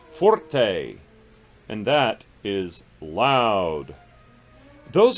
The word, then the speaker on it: forte: we've just talked about it forte it's not forty it's pronounced forte and that is loud those are the four